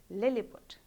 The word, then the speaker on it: Lilliput: Let's try and pronounce a few of them. The first one is simple, Lilliput.